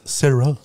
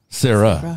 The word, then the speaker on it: Sarai: do Sarah e s it's spelled like Sarai right but it's Sarah Sarah the ey is silent